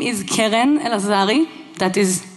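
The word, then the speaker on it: Keren Elazari: True Believers out of you my name is Karen elazari that is how you pronounce it for those of you who find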